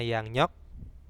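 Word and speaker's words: 양력: seperti ini dibacanya emnyok Terus kalau yang nyok ya Bisa ya Yun Tinggal ditulis yang aja nah seperti itu bacanya Yang nyok tulisannya sama yang riok juga Nah di sini sinjong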